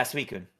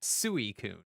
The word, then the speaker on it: Suicune: Can I get a pronunciation on that? Suicune? Yeah, Suicune. Okay. Thank you. As a child, I definitely said Suicune.